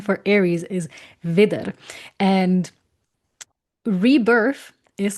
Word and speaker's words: Widder: It's not the exact same words, like Wiedergeburt is with IE and Wieder is like with a double D, but the pronunciation, like the sound of it sounds very, very similar.